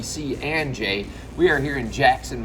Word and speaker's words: C&J: cnj family pizzeria and i may have mispronounced it earlier i probably said cj's but i have taken note it is truly c and j we are here in